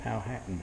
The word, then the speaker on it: Powhatan: Purling and shell buttons, the people of, how did he pronounce this? Powhatan. Powhatan. That's the modern way.